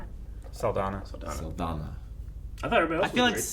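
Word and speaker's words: Saldaña: Saldana. Saldana.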